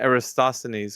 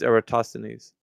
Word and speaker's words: Eratosthenes: to say his name, and not Eratosthenes, because I think that was what the other pronunciation of his name was. Eratosthenes. It's Eratosthenes. Doesn't matter how it's said.